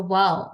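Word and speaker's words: و: It's very easy to pronounce the letter wow. Why and how? Because wow is just similar to the English pronunciation as wow. When we see a beautiful thing, right? So whenever we see a beautiful thing, we say, wow, what a beautiful thing. So wow is basically the right pronunciation for wow.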